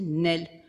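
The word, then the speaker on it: Néel: propos d'Alexandra David Neel, on ne sait jamais comment prononcer son nom. On dit Neel, Neel, etc. Alors nous, on a trouvé une petite note d'Alexandra David Neel qui disait qu'elle voulait que ça soit écrit deux E, elle, sans accent, mais qu'il fallait le prononcer Nel, ce qui est beaucoup plus simple.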